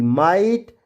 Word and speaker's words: might: तो आपको पता है GHT में आया GH हमेशा साइलेंट होता है।